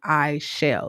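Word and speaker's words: Aichel: name for a minute my name is i shall like a-i-c-h-e-l what whether you spell it like that or you just say i shall i shall start a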